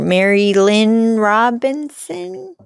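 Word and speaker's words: Marilynne Robinson: know this cuz literator Mary Lynn Robinson um is that how you pronounce her name yeah yeah it has a question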